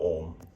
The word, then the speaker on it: om: ah uma which are the three syllables of om the word om is made up of ah umo so let us first